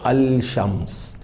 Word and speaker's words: الشمس: لیکن ذرا غور فرمائیے، جب ہم تلفظ ادا کرتے ہیں تو لکھا ہوا ہوتا ہے الشمس، لیکن ہم اس کو پڑھتے ہیں الشمس۔ اس کے برخلاف القمر